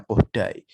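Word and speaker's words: Kodály: Jadi pelafalannya meskipun ini tulisannya Kodali, tapi bacanya pakai pelafalan Hungaria, bacanya Kodai.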